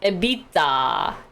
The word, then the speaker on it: EBITDA: tax depreciation and amortization so evita or edita my old finance finance professor used to say ebitda ebitda ebitda it's like how koreans